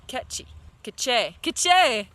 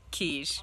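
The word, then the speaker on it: Quiché: Oh yeah, and then I went to Queche. I think I learned how to say it right. I keep saying it wrong. It's not, it's obviously not quiche, but yeah.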